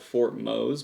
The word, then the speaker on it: Fort Mose: Now it's spelt Fort Mose, but it's pronounced Fort Mose.